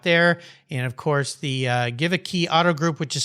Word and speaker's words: Geweke: And of course, the Give a Key Auto Group, which is spelled GEWEKE Auto Group.